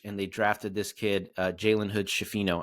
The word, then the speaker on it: Jalen Hood-Schifino: They signed Gabe Vincent, Christian Wood, Taurean Prince, Jackson Hayes, Cam Reddish, and they drafted this kid, Jalen Hood-Schifino, I believe is how you pronounce it, who Lakers fans are very excited about.